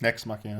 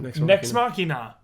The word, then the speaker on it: Nex Machina: Next Machina. Nex Machina.